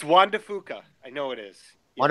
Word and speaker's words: Juan de Fuca: Oh, I think it's pronounced Cascas. No, Juan de Fuca. Did I fumble the geologist? It's Juan de Fuca.